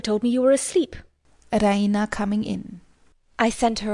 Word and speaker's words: Raina: She pronounces it Raina with the stress on the E. Raina!